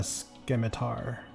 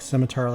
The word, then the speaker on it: scimitar: He's got a Skimitar. A scimitar. I always say it like scimitar the sea is silent.